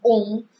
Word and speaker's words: homme: and is horloge and om, we say om, and then they are usually not pronounced. And if I have a word om, for example, HOMME, so I will pronounce it as OM, om.